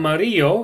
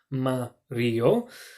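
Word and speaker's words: amarillo: you with green and Mario is probably the hardest one that's yellow so you can chunk it into three bits Oh Mario there's Negril for black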